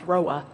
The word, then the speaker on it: ROA: which is called a Route Origination Authority, ROA, pronounced ROA.